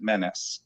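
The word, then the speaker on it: Mennes: spelled the same way it's spelled m-e-n-n-e-s but we always pronounced it menace and so that's where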